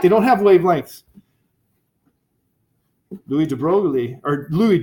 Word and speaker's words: de Broglie: they're not like they don't have wavelengths louise de Broglie or louise de braga let's pronounce his name right christ criminy excuse me